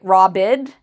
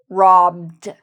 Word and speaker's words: robbed: And we don't say robbed, we say robbed with a d sound at the end.